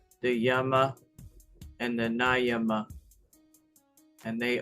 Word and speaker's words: Yama: It says the A is like a U. Okay? So Yama.